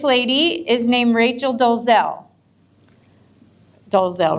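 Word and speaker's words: Dolezal: example so this lady is named Rachel doelle dozel right that's how you pronounce it do you guys remember did you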